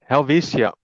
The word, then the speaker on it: Helvetia: Um, so is it pronounced Helvishia or Helvitia? Backyard Blitz. Helvesia.